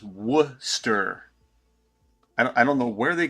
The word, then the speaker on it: Worcester: Yeah, we pronounce everything too, but they pronounce it Worcester, like just Worcester.